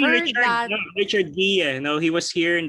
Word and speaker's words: Guia: no, Richard Guia. No, he was here in the previous two book clubs. Richard, are you there? Hi. Guia, no? I pronounce it correctly, no?